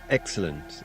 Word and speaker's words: excellent: Where's the accent in the word excellent? The accent in the word excellent is on the first syllable.